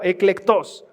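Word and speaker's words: ἐκλεκτός: Algo que es muy importante, tú fuiste tal vez a la conferencia el año, la de eclectos, se pronuncia con acento en la O, eclectos.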